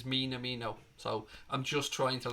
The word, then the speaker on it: Minamino: I used to say Minamino, but somebody pulled me up on it in the comment section and said that the way to pronounce it is Minamino.